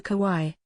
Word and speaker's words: kawaii: who became the vice president elect in november kawaii ku y e the japanese concept of cuteness